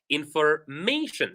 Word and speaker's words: information: So for words that end with shin, we stress the syllable right before shin. For example, information.